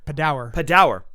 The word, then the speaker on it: Padawer: I always mispronounces it. Padawer.